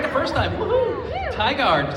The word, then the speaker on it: Tigard: So, from Willow from Tigard or Teagard? I said it right the first time. Woohoo! Tigard.